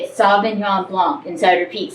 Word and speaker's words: sauvignon blanc: she was telling me how to say it sauvignon blanc inside repeat sauvignon blanc and she said yes and so i i